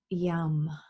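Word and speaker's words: yam: energy practice areas but the seed sound for the heart chakra is yum it's why am young that's how it's spelt but it's chanted more like a young as in yummy okay so we're going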